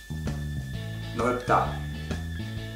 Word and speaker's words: 넓다: There the 리을 is actually always pronounced. 넓다, 할다. Even though we have a consonant after the 2 ending consonants, the 리을 is pronounced normally.